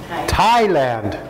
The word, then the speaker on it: Thailand: say something how do you say this word thailand you say thailand in my country people get